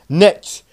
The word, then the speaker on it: netsh: So what you type in is netsh. It's weird how you pronounce it, but just how you type in it, it's N-E-T-S-H.